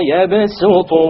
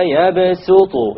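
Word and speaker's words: وَيَبْسُطُ: It is to tell you that it is preferred to pronounce it with a sin. So you don't say Wallahu yaqbidu wa yabsutu. You don't say so. Rather you say Wallahu yaqbidu wa yabsutu wa ilayhi turja'un.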